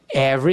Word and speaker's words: every: And had the sweetest gelado every single day. Então a pausa é aqui. And have the sweetest gelado every single day. Every, esse e não é pronunciado, every single day.